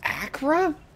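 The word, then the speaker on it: Acre: you're ready to begin your mission Acra it's pronounced Acra I would never have guessed that I was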